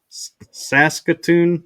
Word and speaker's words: Saskatoon: in Saskatoon. Is that how you pronounce it?